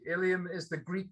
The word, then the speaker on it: Ilium: works is hanging in the lrc and it's ilium uh it's an etching um stephen can you